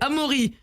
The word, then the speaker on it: Amaury: versaillen c'est vrai mais en réalité c'est amori alors je sais pas